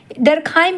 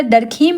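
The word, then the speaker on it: Émile Durkheim: तो amyl डरखाइम की बात करें डरखाइम भी बोला जाता है, डरखीम भी बोला जाता है, दुरखीम भी बोला जाता है।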